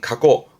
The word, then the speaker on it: 過去: 발음은 가고 과거의 겉자 하지만 조심할 거이 거자는 코는 이거면